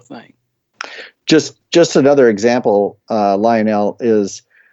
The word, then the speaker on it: Lionel: before we go on it's Lionel not line now line it Lionel is the train's Lionel as thing there okay carry on yeah I got that lecture long okay it's not three syllables it's just all run together do it with a